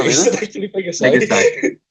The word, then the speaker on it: Pegasi: How do you pronounce multiple Pegasus? Is it Pegasuses or Pegasus? Pegasi. Oh really? Oh, Is really? it actually Pegasi? Pegasi.